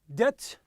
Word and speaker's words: debt: Debt. The B is silent.